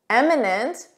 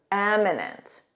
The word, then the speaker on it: eminent: Eminent with an E, notice that pronunciation, eminent. Repeat after me, eminent.